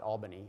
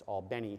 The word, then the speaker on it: Albany: uh hospitals in albany it's not albany it's albany georgia for those of you who may be from georgia i believe i'm pronouncing that correctly but anyway um that's